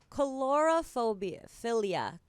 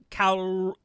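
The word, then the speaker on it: coulrophilia: Chlorophilia. Chlorophilia. That's correct, right? It's calrophilia.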